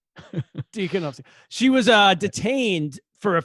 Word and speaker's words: Tikhanovskaya: How do you pronounce her last name? Tikhanovskaya. Tikhanovskaya. Tikhanovskaya.